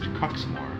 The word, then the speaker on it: Quxmore: It's pronounced Coxmore.